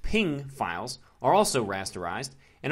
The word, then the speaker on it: PNG: guessed JPEGs a rasterized P&G pronounced ping files are also rasterized